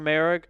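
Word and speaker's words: Moehrig: Mor mer Trayvon merri I think it's mer I think I've been saying it wrong this whole time Trayvon merri last year I mean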